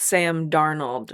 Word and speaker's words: Darnold: And it's Sam Darnold.